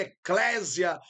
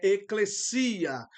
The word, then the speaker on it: ἐκκλησία: E aí o acento recai sobre o iota.